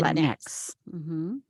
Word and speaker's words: Latinx: Latina or Latino but pronounce the X as the name of the English letter X. Um so you get something like uh Latin Latin X.